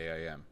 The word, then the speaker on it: AIM: So that's h that's how I became aware of the AIM. Yes. Yeah. And I don't even know if I'm saying it correctly. Is it AIM or Yeah. Aim AIM.